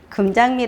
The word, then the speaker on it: 김장미: 제 이름 은 금장미 입니다 . 철자 는 김장미 이지만 발음 은 금 장미 입니다 .